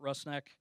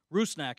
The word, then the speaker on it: Rusnák: man of the hour Albert russnak rusnack excuse me is the correct pronunciation will have much much